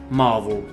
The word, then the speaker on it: Marvel: Pour rappel, on parle d'une entreprise américaine, donc avec une prononciation à l'anglo-saxonne. Si l'on voulait être très précis, nous devrions dire Marvel.